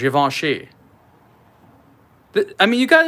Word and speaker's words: Givenchy: don't know be like the crass American way to pronounce this is Givenchy Givenchy is Yvonne she but I mean you